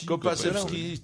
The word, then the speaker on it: Kopacevski: Il n'est pas polonais, copain. Kopacevski. Tu dois dire comme copain.